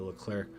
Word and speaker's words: Leclerc: After this patch, obviously, I think the Leclerc has the best. Somebody said the C is silent on it, so I'm trying not to pronounce the C.